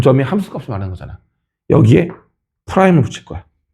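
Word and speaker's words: prime: 이 프라임이란 용어가 프라임이라고 읽을 때가 있고 다시가 아니라 대쉬라고 읽을 때가 있어요. 대쉬. 이거는 이렇게도 읽고 이렇게도 읽어요. 근데 얘를 콩글리시로 다시라고 읽으시는 거야. 무슨 말인지 알겠어? F 다시 A라고 하신단 말이야. 근데 이 대시는 숫자에서만 붙였을 수 있는 거고 문자에 붙일 때는 프라임을 읽어줘야 돼.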